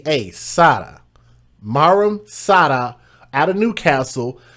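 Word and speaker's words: Saada: Last name S A A D A Sada.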